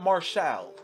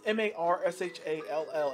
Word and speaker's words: Marshall: okay qt marshall and it's not martial it's not qt martial he he says his own gimmick name wrong is qt marshall not martial like that's stupid no one no one pronounces m-a-r-s-h-a-l-l as martial it's marshall simple but it's a good